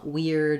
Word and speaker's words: weird: spelled e-a-r e r there are a few places where it's spelled another way uh weird is another example with eir so really you need